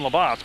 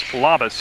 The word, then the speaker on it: Labas: Now Labas, I pronounced his name wrong his whole career when he would play down at Mill River, but he's a phenomenally good player to watch. I called him Labas, but it's Labas because I asked him,